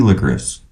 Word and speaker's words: licorice: a touch of spicy licorice. How do you pronounce it? Licorice? Okay. Even though there's no SH, no SCH, it's ICE, licorice. I won't.